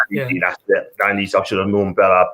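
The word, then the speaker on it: Dionisi: His name is, if I pronounce it right. Dionysi, yeah. That's it. Dionysi, I should have known better, but what a coach he is, man.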